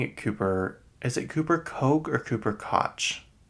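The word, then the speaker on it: Koch: that I've always said it was cotch cuz there's that cotch industries that family that's really rich but apparently people are saying Coke k o CA how do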